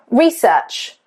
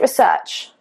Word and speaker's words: research: If it is a verb, the stress is on the second syllable.